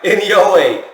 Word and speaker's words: Inoue: Inoue, a.k.a.